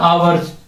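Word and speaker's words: hours: बाद ये आता है आवर्स ठीक है लेकिन इसमें स्टार्ट का से हो रहा है एस से एच अपना क्या है साइलेंट एच अपना क्या है साइलेंट है तो आ आ रहा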